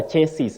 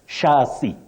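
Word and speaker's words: chassis: got really amused because the right spelling is c h a s s i s and you say sh Shi not ches that we commonly hear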